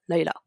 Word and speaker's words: Lila: principal qui est là il a encore une prononciation on tournait pas d'accord lila leïla jeudi plutôt à l'anglais 110 ans leïla leïla c'est un personnage incroyable mon personnage préféré